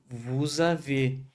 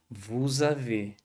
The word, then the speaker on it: vous avez: O mesmo vai ocorrer com vous avez. O S do vous, ele vai se conectar com a do haver e vai dar esse sonzinho de Z, essa ligação. Vous avez. E a gente não pronuncia esse Z final. E esse E, ele vai ser como se tivesse um acento circunflexo. Vous avez.